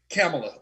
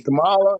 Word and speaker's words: Kamala: Or Kamala, I have to make sure because I believe it's Kamala is how she pronounces her name. But the thing is crazy. Kamala, because Kamala, whatever it is.